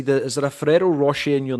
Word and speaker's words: Roche: I had Roach, I had Rosh, I had Rocher even. Uh it's actually um Rosh.